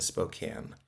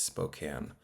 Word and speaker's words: Spokane: And thanks to everybody who came out to Spokane. I now know how to say it. It's Spokane, not Spokane.